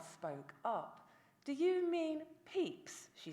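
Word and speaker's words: Pepys: the restoration diarist Samuel peeps his name does not sound like what it is spelled like but I did not know that at the time I was teaching Pepes the POS the Posh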